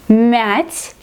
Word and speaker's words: мять: Here we have to pronounce it like soft consonant, мять.